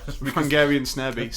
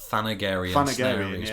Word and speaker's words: Thanagarian snare beast: And this is kind of weird, because I never realised until this documentary, actually, that it was actually meant to be pronounced Thanagarian snare beast, because Thanagar is Hawkman's homeworld.